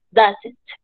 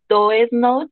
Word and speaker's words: doesn't: Y la forma de pronunciarlo es doesn't, como si esto se transformara en una A. La O y la E se transformaran en una A. No es correcto decir do es not o do isn't porque